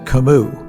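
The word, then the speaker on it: Camus: And I knew at least enough about it, should that author come up in conversation with the French girls, not to pronounce the s in kimu.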